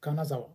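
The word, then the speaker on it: 金沢: فأنا أقول مثلا كانازاوا، حلو، ده النطق الصح بقى كانازاوا.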